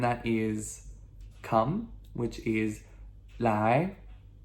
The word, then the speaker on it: 来: Okay, I have two more verbs for us to learn, and that is come, which is 来, L-A-I. Second tone, ascending tone, that questionable what, okay? 来, okay?